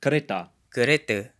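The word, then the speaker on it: kereta: the malay pronunciation of karita final ah is usually pronounced as a schwa in malay at least in malaysia a couple more examples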